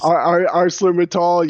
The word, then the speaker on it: ArcelorMittal: ArcelorMittal, yes.